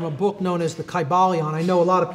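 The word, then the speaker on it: Kybalion: greek language in which there was no like short y sounds you know it would have been a long i sound chi ba leon and every syllable would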